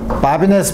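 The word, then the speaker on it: Babinet: 문제를 풀어야 되는데 문제 바비네 프린시플 바비네 프랑스 사람이기 때문에 마지막 티를 발음을 안 하죠 바비네의 프린시플 뭐냐면 다음과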